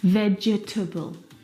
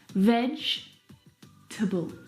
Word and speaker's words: vegetable: Vegetable. But there's not. There are three syllables. Vegetable.